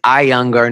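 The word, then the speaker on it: Iyengar: I young our classes I keep pronouncing it wrong I get emails every time it's I younger not eanger I am told every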